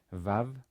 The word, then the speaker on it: Vav: Vav, which is originally a wow, but today pronounced as a V, just like the Bet without a dot.